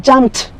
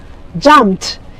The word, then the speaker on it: jumped: till sound should come jumped jumped you even if it is e d the pronunciation should be jumped like as if the